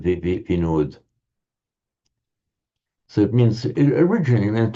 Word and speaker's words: Vinod: You may know the popular Hindu name Vinod. Vinod, which is just the modern Hindi, generally northern Indian way of pronouncing what in Sanskrit is Vinoda.